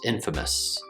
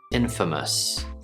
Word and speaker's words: infamous: If you're speaking slowly, the last syllable might sound like miss, infamous. But when we speak more quickly, that also becomes the schwa sound. Mus, infamous, infamous. First syllable in, second syllable fa, last syllable mus, like at the end of Christmas. Sort of like us, but lazier.